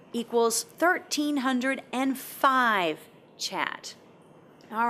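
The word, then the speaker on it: kyat: um it was $1 equal 5.6 chat so that's how you pronounce their currency the chat so the government set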